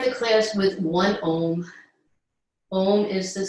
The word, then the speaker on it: Om: Om is the sound of all of life. It's vibrational. There's an ah, u, 3 syllables that all sort of meld together into this one vibrational sound, symbolizing all of life, beginning, middle, and end.